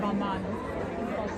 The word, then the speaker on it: Balmain: Balmain.